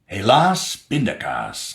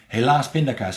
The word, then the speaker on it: helaas pindakaas: Helaas pindakaas. Yeah, Dutch people do say that. And it's got nothing to do necessarily with the inconvenience. It's just that pindakaas rhymes with helaas.